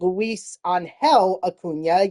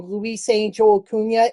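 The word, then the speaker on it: Luisangel Acuña: Hunter Goodman and then Luis onhell aunia yes Luis onell auna I've been saying it wrong all year I've been saying Luis Angel aunia it is not it is Luis on hell aunia I do apologize for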